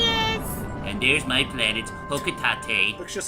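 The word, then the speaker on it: Hocotate: Fun fact, a lot of people tend to mispronounce it as... I thought it was Hokutate. Fun fact, many people mispronounce it as Hokutate, as did this fucknut named James.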